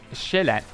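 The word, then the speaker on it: Sjælland: Tristan, Zealand is the English pronunciation of Shelat, which is one of the three, one of the, well, it's not three, there's also Lolland, I guess.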